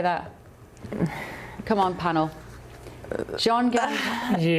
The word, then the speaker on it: Zhongnanhai: Zhongnanhai Yeah. Zhongnanhai There we go.